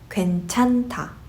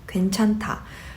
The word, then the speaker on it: 괜찮다: Therefore, you just pronounce it as 괜찮다, 괜찮다. However, you hear that 타 sound instead of 다.